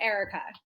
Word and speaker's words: Aarika: It's pronounced Aarika.